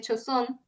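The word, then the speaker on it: Joseon: Eh, la historia es un chef que de la actualidad que por algo que pasa termina en la época de Choosón, se pronuncia así, eh, en el cuerpo nada más y nada menos que de la reina.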